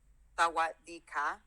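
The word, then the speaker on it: สวัสดีค่ะ: Sawadee ka. Yeah. Out. For guys we say krap. For girls, yeah, you say ka. So you say sawadee ka for girls. Sawadee ka.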